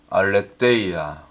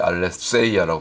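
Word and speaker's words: ἀλήθεια: 위에 한번 따라해 봅니다 알레데이아 알레데이아 혹은 보통 우리가 신학교 다닐 때 알레 세이라 배웠는데 여기 가운데 보면 여기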